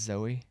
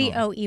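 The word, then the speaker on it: Zowie: Zoe, but it's spelled Z O W I E. I'm assuming that's Zoe. Z O W I E.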